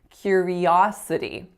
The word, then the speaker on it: curiosity: was the word curiosity where I made the e really strong when in fact the second syllable the third syllable excuse me should be strong curiosity curiosity and then our fourth word